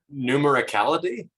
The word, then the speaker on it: numericality: you say that word someone someone help me numericality numericality thank you so yeah we're just what